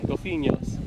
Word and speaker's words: GOLPHIÑHOS: Can you pronounce that? GOLPHIÑHOS. There you go. Yeah, the second try. GOLPHIÑHOS.